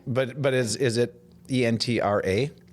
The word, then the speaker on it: Entre: the name of your bank is entra Bank entra mhm and how do you spell it it's short for entrepreneur so you take